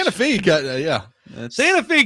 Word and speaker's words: Santa Fe: Santa Fe kind of throws me for a loop, man. Like I'm sorry. Just put an extra E on it. If you want it to be Santa Fe, put another E. Like that's that's what it is. I I English language, like one E is not an an E sound, right? It's not a long E.